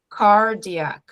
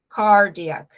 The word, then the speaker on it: cardiac: Presta atenção no estresse da palavra cardiac, cardiac. Não puxem para o final, cardiac, igual a gente fala cardíaco em português, ok?